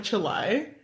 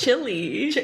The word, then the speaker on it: Cheli: If someone mispronounced my name, like instead of Cheli, they said like Chelai. Or Eli. It's Chili.